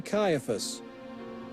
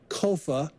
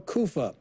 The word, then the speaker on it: Caiaphas: Some think it's Caiapha, and if it is, then it's probably Caiaphas. However, that last name probably shouldn't be pronounced Caiapha. It's probably Kofa or Kufa.